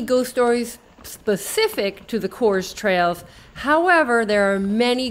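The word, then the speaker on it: Coös: I did not take into account the umlaut on the second O of the trails. I believe it's pronounced Coors.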